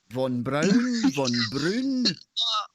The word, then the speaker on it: von Braun: a certain individual who's whose name started with a v rhymes with brown von braun yeah i don't know